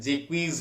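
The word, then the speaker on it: Jaques: एक चीज और ध्यान दीजिए, हम इसे भले ही जेक्स कहते हैं लेकिन इसका प्रोनाउंसिएशन जो है जेक्वीज करके है, जेक्वीज।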